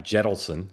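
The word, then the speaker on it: Jentleson: hometown, started by a former Reid aide, Adam Jettleson. Is that how you pronounce his name, Dan? Yep. Jettleson, Yep.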